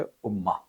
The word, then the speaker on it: امہ: اور اسی طریقے سے ایک لفظ ہے جو لکھا جاتا ہے صرف ایک پیش اور زبر کے فرق میں تلفظ بدل جاتا ہے، اور وہ ہے امہ.